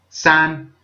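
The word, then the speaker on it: 三: you guessed it three lines and that is pronounced son Sam Sam it's three is four four lines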